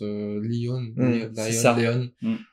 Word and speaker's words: Léon: que les angles enfin dans la langue anglophone Léon tu le prononces lionne sauf que ça marche pas en français en fait parce que